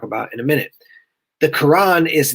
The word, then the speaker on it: Quran: You can see it's spelled Koran or Quran. It's the sound of it essentially is when you say it, it's going to be the same thing, Quran.